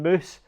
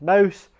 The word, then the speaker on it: Moose: It should have been Moose. Everybody pronounced it as Mouse, and which is understandable. That's what it looks like, that's what it says, but it made no sense to anybody outside of us.